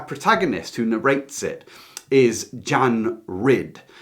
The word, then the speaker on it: John: So our protagonist who narrates it is Jan Ridd. It's spelled John, but you say it Jan.